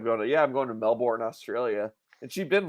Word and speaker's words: Melbourne: yeah that's where I that's where I live Melbourne Cape canaville so they pronounce it Melbourne there yeah so it's funny